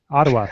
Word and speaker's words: Ottawa: here, is this article from how does that pronounce? Ottawa? Yeah. Someone help me. Ottawa.